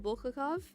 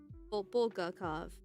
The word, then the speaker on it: Bulgakov: Uh Mikuel Bulakov Bulgakov.